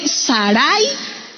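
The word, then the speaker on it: שָׂרַי: Del hebreo Sarai, con acento en la A, en la segunda A, Sarai, que mire, lamentablemente significa dominante.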